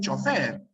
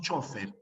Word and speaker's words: chófer: eh español no porque en España dicen chofer pero nosotros decimos chófer bien a ver alguien